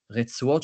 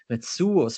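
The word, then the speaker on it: רצועות: straps of their phylacteries, retzuot shel tefillin, or actually retzuos shel tefillin, because this should be should be read in an Ashkenazi accent, which is different from the way that we usually pronounce modern Hebrew today.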